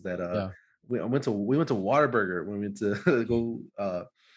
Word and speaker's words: Whataburger: go to Whataburger, and no one says Whataburger. They say Whataburger. Like almost like you're saying water, but if you say it right, it's not water.